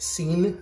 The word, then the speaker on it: sin: aftershaves and this is scene um i know it says sin but it's pronounced scene like s-e-e-n um it's spanish for